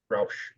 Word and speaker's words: Rausch: Roush. Like the company that soups up cars, Roush. No, it That's a O. sounds the Oh. same, but not spelled the same.